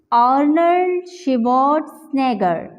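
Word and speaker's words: Arnold Schwarzenegger: अब हम इसे पूरी तरह से प्रोनाउंस करते हैं, आर्नल्ड श्वार्ज़नेगर, आर्नल्ड श्वार्ज़नेगर। टी का भी साउंड आ रहा है, जी का भी साउंड आ रहा है और यहाँ पे एन का भी साउंड आ रहा है। तो इस तरह से हमने इसे प्रोनाउंस करना है।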